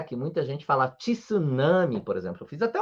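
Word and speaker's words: 津波: Tanto é que muita gente fala tsunami, por exemplo. Eu fiz até um vídeo falando sobre isso, né? Sobre tsunami, tsuyaku. Não é assim que se fala, não é mesmo? A gente fala apenas tsunami, tsuyaku.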